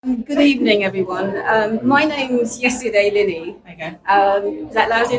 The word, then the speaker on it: Yeside: evening everyone my name's yesterday Lenny um is that lousy enough yeah um my name is yesterday I and it's not yesterday it's yesterday that's pronounced like yesterday without the tea I'm and it's important